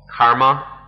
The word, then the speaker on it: karma: But if we understand karma is the Sanskrit pronunciation, kama, the Pali pronunciation.